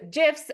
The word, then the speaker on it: GIF: and they can use GIFs and other media it's actually pronounced GIFs just looked it up before to make sure uh the pronounce the the Creator calls it a gif so just begin making